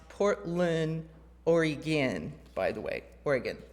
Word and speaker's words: Oregon: heard Portland Maine nope other Portland and it's pronounced Portland Oregon by the way Oregon like gy anyway so